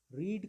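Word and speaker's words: read: अभी तक करेक्ट है रीड कब गर्भवती क्या होता है रीड कर भरत इन उच्चारण में रेड पढ़ा जाता है लेकिन स्पेलिंग रीड जैसा ही होता है यह अभी तक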